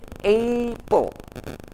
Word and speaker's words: apple: buah apel buah apel in english We can say Apple jangan Appel ya app pastikan your pronounciation